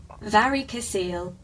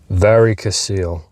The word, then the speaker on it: varicocele: pronunciation I hate having answers to all my questions. varicocele varicocele Uh is an enlargement of the network of the veins in the scrotum.